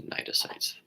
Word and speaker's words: cnidocytes: It's just cnidocytes. The CN is silent.